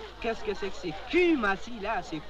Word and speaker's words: Kumasi: Qu'est-ce que c'est que c'est Kumasi là? C'est Q de Q. Non, c'est Q. Les Anglais prononcent U comme OU, alors on lit.